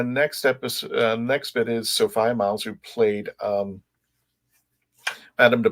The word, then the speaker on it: Sophia: So everybody, the correct way to say her name is Sophia.